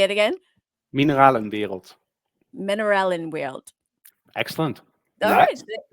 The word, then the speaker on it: Mineralenwereld: And yeah, that's then all things happened, and we became friends, and also started Mineralenwereld. This is how Yeah, that's how you pronounce it.